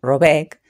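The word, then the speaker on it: Råbäck: Llamaré Rabeck, pronúnciese algo así como Robeck, a la casa en cuestión, aunque no es este su verdadero nombre.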